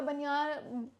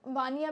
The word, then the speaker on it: बनिया: जो बनिया है या बनियान ये बनिया है एक्चुअल में, इसकी जो प्रोनाउंसिएशन है वो बनिया है, या वानिया भी बोलते हैं जिसको, आज भी